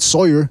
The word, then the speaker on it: Sawyer: That was Red Sawyer, which rhymes with Destroyer.